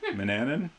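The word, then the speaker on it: Manannan: Mananan. Rhymes with bananan.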